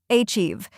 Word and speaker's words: achieve: Achieve. 2 syllables. Stress on the second part.